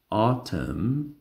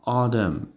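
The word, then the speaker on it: autumn: در این کلمات حرف ان بی صدا میشه. مثلا آرم، آتم، آتم یا آدم تلفظ میشه.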